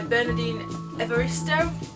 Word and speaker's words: Bernardine Evaristo: The second book that I bought was Girl, Woman, Other by Bernardine Evaristo. That's how you pronounce it.